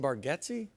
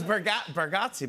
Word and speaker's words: Bargatze: Were y'all saying Bargatze?